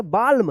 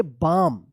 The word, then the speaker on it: balm: इसको पढ़ेंगे बाल्म, नहीं, इसको पढ़ेंगे बाम, BLAM, बाम। यहाँ पे भी एल का उच्चारण नहीं हो रहा है।